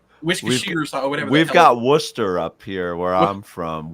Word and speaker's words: Worcester: or something we've got Worcester up here where I'm from Worcester it looks like warchester but that's not what it is uh Brad uh we're